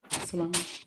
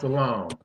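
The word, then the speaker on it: Salaam: Salon. I'm sorry. My bad. I'm muted. Yes. And it's pronounced Salam.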